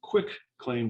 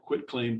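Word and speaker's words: quitclaim: quit claim deeds and they call them quick claim deeds because they don't understand how to say the right term and they just fill them out and record them and they are called quit claim deeds and that's not always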